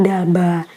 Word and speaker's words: D'Alba: dari Korea Selatan dan walaupun ini ada apostrophe dibacanya bukan the Abdullah tapi daba nah produknya ada apa